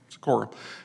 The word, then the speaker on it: Sikora: the outcome was that Sikora, is that pronounced your last name right? Sikora, and I would be acting until we get a consultant in to be an interim executive director.